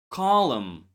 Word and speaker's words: column: The n was once pronounced but later dropped. Repeat after me these words here. Autumn column.